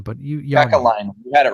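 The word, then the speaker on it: Kekäläinen: that Blue Jackets GM Jarmo Kekalainen, I can't pronounce his name, but Kekalainen, you had it right.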